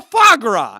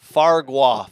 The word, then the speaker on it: foie gras: This is all foie gras. And I looked up what foie gras was. How did you spell it?